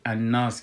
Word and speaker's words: الناس: و ما گفتیم که الف لام در الناس امی لامش که است، ای لام شمسی است، پس تلفظ نمیشه. پس وقتی که ما ایده تلفظ میکنیم لامشه تلفظ نمیکنیم، در عوضش ما نونشه مشدد میسازیم.